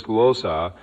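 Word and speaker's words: γλῶσσα: In the original Greek, this word is a glōssa, pronounced as glōssa, which is listed as Strong's G1100.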